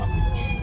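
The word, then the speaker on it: Lutwyche: I believe it's Lutwich. It's a sandwich, but Lutwich.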